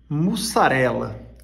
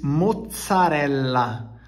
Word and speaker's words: mozzarella: os italianos ficam loucos mussarela gente na verdade se diz moçarela com dois ex e dois L os italianos ficou louco